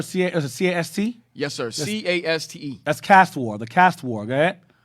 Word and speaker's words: Caste War: This was during the rebellion known as the Case War, according to INA. Spell that. What's the word? C-A-S-T? Yes, sir. C-A-S-T-E. That's Caste War.